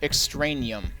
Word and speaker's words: Extraneum: a security guard for top-secret Project Extraneum, pronounced Extraneum.